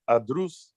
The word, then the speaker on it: Adrus: So would that be pronounced Adrus? Yep, that's correct. Adrus.